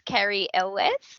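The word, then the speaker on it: Cary Elwes: as well i actually found out how to pronounce carrie's name it's carrie ellis i want to start with wesley and princess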